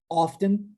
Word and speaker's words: often: podendo ser sometimes, never, often, sometimes. O always é sempre, né? Você já sabe. Sometimes, às vezes, never, nunca, e o often, frequentemente. Often pode ser pronunciado também often, e os dois estão corretos.